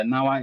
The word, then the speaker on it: Gnawa: So the Nawa is spelled like Gnawa.